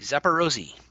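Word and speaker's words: Zaporizhzhia: west towards oh yes i know how to say this city now because i looked it up it's zapparozzi zapparosi which really rolls off the tongue zapparosi phonetically that's i believe how you say it zapparosi so netro petrovsk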